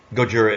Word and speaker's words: Gojira: Gojira is not me being a jerk about using the correct pronunciation. That's really what he's called.